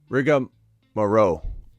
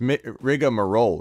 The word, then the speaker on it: rigmarole: Corian says, Rigamarow. Rigamarow? Is that how you say it? Rigamarow? What's rigamarow even mean? Like nonsense shenanigans? Rigamarow? It's rigmarole, right? Confused or meaningless.